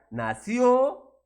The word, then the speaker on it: nació: en ambas palabras claro así es la pronunciación verdad nació y nací y además esto está